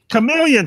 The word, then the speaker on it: chameleon: of the Shyamalan and you haven't, is that pronounced correctly? And you haven't seen him in what? Shyamalan. What's a Shyamalan? Chamelon. It's a little bug that changes colors all the time. You mean like a lizard? Chameleon.